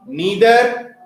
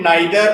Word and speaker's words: neither: each every each every neither either it can also be read neither or either both the pronunciations are correct okay neither neither either